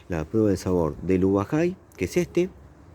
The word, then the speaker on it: ubajay: Yo al finalizar el video les voy a dejar la prueba del sabor del ubajay, que es este, que en guaraní lo pronuncian algo así como ibajay, y la ubaya que tenemos acá.